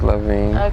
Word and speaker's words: Lavien: Is that the right pronunciation? It is Lavien.